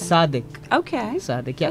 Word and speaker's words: Sadiq: name is sadik uh we don't really pronounce du we we pronounce it as the the the the so it's sadik okay sadic yeah it's